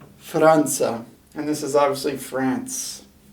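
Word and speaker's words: فرنسا: it so we have an f here with an r then a short a followed by an in with no vowel you see that line there an s long a franza franza and this is obviously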